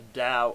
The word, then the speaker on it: Tao: quantum physics I found a book called The Da of physics that's spelled Tao the da of physics well that book more than any